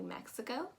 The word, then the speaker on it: Mexico: mispronounce mexico except for maybe making that e sound a little bit too a y like so you're gonna pronounce it as me say think of that x